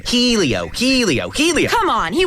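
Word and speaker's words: Hélio: And it's pronounced Elio.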